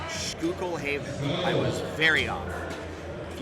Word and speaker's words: Schuylkill Haven: Okay, so Google told me it's actually pronounced Schuylkill Haven.